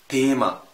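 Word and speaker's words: Thema: لا في الالماني بنطقه وكانه تاء، كانك مش شايف الها خالص. بنطقه ازاي؟ تيما. انطقه ازاي؟ تياتا. انطقه مثلا في كلمه ميتودا. شايف هيفضل طول عمره تاء مش ثاء، ركز في دي برضه.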